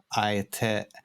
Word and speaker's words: Aeternum: To be frank, I didn't even know how to pronounce it myself when the name came up, but I think it's Aeternum. I think that's easiest.